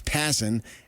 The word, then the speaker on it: Passan: I keep screwing it up because I asked him how do you pronounce his name, and it's Passan, and he said he's